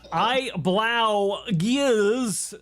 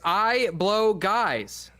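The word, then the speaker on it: IBlowGuys: Uh I blow gears sent five gifted uh memberships. Thank you uh for that. I appreciate you. U you dunce, you're saying it wrong. It's I blow guys.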